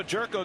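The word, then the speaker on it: Gyorko: So Jerko gets the opportunity, and yes, that's how you pronounce his name.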